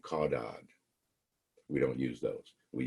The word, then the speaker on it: caudad: They're pronounced cephalad and caudad.